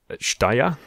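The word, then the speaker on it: Jdahya: is kind of a it's dier dier dier is the the way there's the narrator pronounces it okay so yeah it's kind of a soft J okay yeah so I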